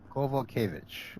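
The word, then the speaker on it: Kowalkiewicz: Kovalkiewicz.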